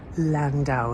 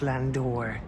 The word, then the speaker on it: Landau: yes yes here we have the semi-state Landau it says there but it's actually pronounced Landor us which you can see you pronounce that